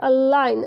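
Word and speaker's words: align: पे जो है ये अलाइन, अलाइन मीन्स होता है सीधा मिलाना या संरेखित करना। तो यहाँ ये जी साइलेंट होगा।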